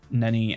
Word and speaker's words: Ninny: It's Ninny, but I think pronounced Nini in English sounds- doesn't sound Yeah, right better at to all.